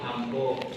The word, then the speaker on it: amba: Oh, contoh contoh bahasa Jawa vokal A itu ee jejak itu kan ada itu ya C balik gitu itu kan dibacanya O kayak amba jadi ambo ambo iya Iya.